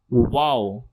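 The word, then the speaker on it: و: The next is wow. Wow. Wow. It sounds like wow.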